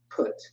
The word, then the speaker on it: Put: and the bible put that's how you pronounce it put like put that's how it sounds puts clips some